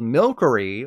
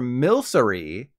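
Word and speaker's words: Milcery: of sticky white batter isn't called milkery like a mixture of milk and Curry but rather military which is Believe It or Not A mixture of milk and sorcery and the cake isn't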